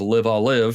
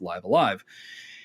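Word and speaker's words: Live A Live: for live alive which i found out that's apparently how you pronounce it i thought it was live i'll live because that sounded cooler but no it's live alive and uh i played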